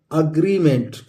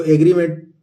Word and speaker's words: agreement: AGREEMENT, ये है अग्रीमेंट। इसको एग्रीमेंट बहुत सारे लोग बोल देते हैं, लेकिन सही प्रोनाउंसिएशन है दोस्तों अग्रीमेंट, अग्रीमेंट।